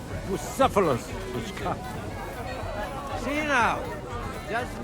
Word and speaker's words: Bucephalus: It's pronounced Bucephalus, which comes.